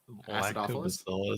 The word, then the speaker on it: acidophilus: Lactobacillus Acidophilus?